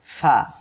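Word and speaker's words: ف: আজকের চতুর্থ অক্ষর ফা। ফা অক্ষরে 1 আলিফ টান। সবাই আমার সাথে পড়েন ফা। ফা অক্ষরটি উচ্চারণ হবে নিচের ঠোঁটের পেট উপরের 2 দাঁতের আগার সঙ্গে লাগিয়ে।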